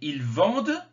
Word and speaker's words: ils vendent: prononce pas le d mais ils vendent on le prononce parce qu'il y a des lettres derrière il ya une voyelle